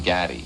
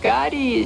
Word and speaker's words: Gotti: Someone took me on the side that night and said, listen, remembered his name, John Gaggi. He didn't even say it right. He didn't say Gotti. He said, John Gaggi.